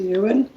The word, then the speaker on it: Ewan: I think it's pronounced ew and. No, it's Ewan. you, like a sheep.